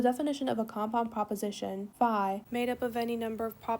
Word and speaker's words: phi: We pronounce it as phi.